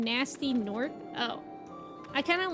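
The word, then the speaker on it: Gnasty Gnorc: The G is silent in Nasty Gnork.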